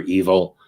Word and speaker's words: Evel: L I always remember evil i l now it's always been EV canevel but I think you you pronounce it you know evil but it's spelled Evel same thing with Sumer